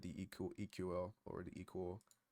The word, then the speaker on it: EQL: of the studio code eql is pronounced equal so an equal uh version of the